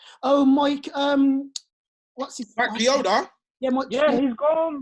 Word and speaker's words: Chioda: Matt Chowder. I don't know how to pronounce his name. You're that veteran referee. Oh, Mike. What's his Mike Chioda?